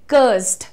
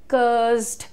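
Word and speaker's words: cursed: कर्स्ड. एस और डी को आपने ब्लेंड करना है, यानी उनका मिश्रण करना है. कैसे करेंगे? कर्स्ड. कर्स्ड. मेरे साथ बोलिए, कर्सेड नहीं, कर्स्ड. कर्स्ड.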